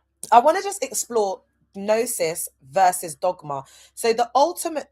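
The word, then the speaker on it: gnosis: All right, I want to just explore nosis versus dogma. So the ultimate truth arguably is nosis. That's G N O S I S, but the G is a silent G by the divine power vested in me.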